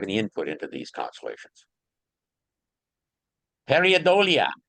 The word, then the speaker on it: Pareidolia: How do you pronounce that word? Pareidolia.